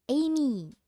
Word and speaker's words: Aimee: You were right, it's Amy. Because it's spelled AI, so I thought I Suji and Amy, but Amy. Apparently it's the French spelling.